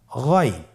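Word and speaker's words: غين: এভাবে উচ্চারণ করা যাবে না, যেহেতু হরফটি মোটা, এই জন্য মোটা করে উচ্চারণ করতে হবে গইন।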